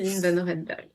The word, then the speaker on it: Céline Vannoorenberghe: Alors là pour le coup avec mon mon prénom et mon nom, c'est Line Noredberg.